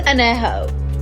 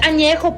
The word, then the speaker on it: añejo: What the fuck is Anejo? It's añejo, puñetas.